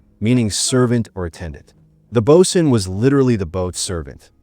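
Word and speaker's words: boatswain: The bosen, pronounced bosen, is another example.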